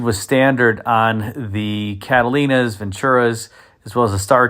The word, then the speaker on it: Ventura: And before somebody puts a comment in the comment section, I know I said Ventura as the pronunciation of that particular model.